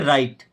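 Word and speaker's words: write: Okay, राइट, अब यहां पे W साइलेंट है, क्या पढ़ते हैं, राइट।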